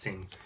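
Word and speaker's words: Synge: I think it's pronounced Singh. And this is an Irish writer who's like a really famous Irish writer that I know nothing about.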